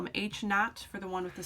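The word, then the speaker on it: H₀: subscript of a zero our null hypothesis is pronounced h naught uh it is a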